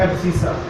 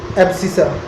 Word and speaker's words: abscissa: जो इसमें x वाला पार्ट है इसको हम बोलते हैं एब्सिसा, स्पेलिंग चेक कर लेना एक बार। एक्स वाले पॉइंट को हम क्या बोलते हैं, एब्सिसा।